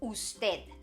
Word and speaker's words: usted: That you formal is usted.